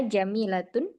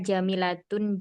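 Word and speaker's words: جميلةٌ: Ya jamilatun jiddan. Oh iya ya. Wa hadhil kutubu jadidatu di sini Ustazah. Yang tadi Umi bacanya hiya jamilatu jiddan. Hiya jamilatun jiddan. Oh, jamilatun. Nah, yang hiya jamilatun jiddan.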